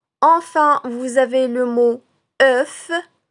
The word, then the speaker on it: œuf: Enfin, vous avez le mot œuf. Œuf qui commence par le son E de cœur mais se termine par la consonne F.